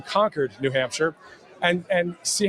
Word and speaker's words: Concord: town this is conquered it's spelled Co NC Rd so it looks like Concord but it's actually conquered New Hampshire and and